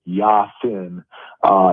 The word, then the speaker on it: Yasin: And I think when you add in Yasin Willis, and he pronounces it Yasin, he's a guy from